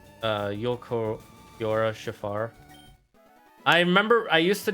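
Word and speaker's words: Ulquiorra Schiffer: My dyslexia struggled to pronounce it too when I first saw him, but it's Yolkiora Shafar.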